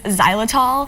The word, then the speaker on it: xylitol: of our ingredients is xylitol and which is ironically spelled with an accent but no it sounds like a Z uh but when we